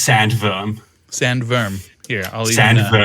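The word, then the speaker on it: sandworm: the listener uh it's it's not sand worm even in english it's pronounced sand verm sand verm yeah it's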